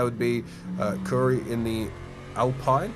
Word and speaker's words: Alpine: is that that would be cury in the Alpine Alpine uh yep that is the AL of Curry yep it's pronounced Alpine um and he is about to get ped